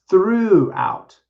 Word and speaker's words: threw: past tense we say through out through out sounds like the word through like to go through something but it's actually t